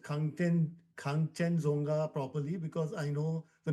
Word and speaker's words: Khangchendzonga: If you hear the monks pronounce it, it sounds completely different. So yeah, Yeah. Kanchenjunga is as good as it gets.